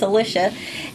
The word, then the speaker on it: Alicia: It's not Alicia, it's Alicia.